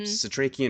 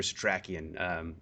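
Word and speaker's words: Setrakian: We also have a couple different pronunciations of this name. Hmm. Satrakian or Satrakian. I think F and Nora both call him Satrakian at some point, Mm-hmm.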